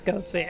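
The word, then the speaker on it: goatse: game version of goatsy or is it just goats do we out I think it's goatsy I think goatsy is the canonical pronunciation congratulations Heck if you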